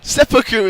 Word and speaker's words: seppuku: to go and commit seppuku officer yeah anyway seppuku is how you say it okay you know how you pronounce it how it quasi coming in from